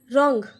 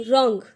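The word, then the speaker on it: wrong: इसी तरीके से होता है क ओंग, कोंग, WR, और फिर होगा ONG, रोंग, र ओंग। वहाँ पे W भी साइलेंट होता है, तो रोंग।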